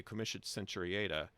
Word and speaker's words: comitia centuriata: And so if they hear me say comitia centuriata, they're going to think, oh, what a stupid American. I'm just using the traditional English pronunciation that Hamilton would have used.